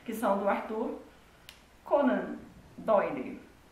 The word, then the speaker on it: Doyle: Eu sempre falava Dale, só que aí eu fui escrever um post no blog e aí eu descobri que não se escreve Dale, se escreve Doyle e provavelmente eu pronunciei errado a vida inteira.